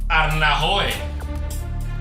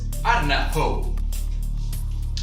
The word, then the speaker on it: Ardnahoo: Arnahoe. En aquest cas guanya en Víctor, la pronúncia correcta és Ardnahoo.